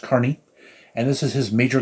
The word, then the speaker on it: Kearney: start there matt carney his last name looks like it's supposed to be pronounced kearney but it's actually pronounced carney and this is his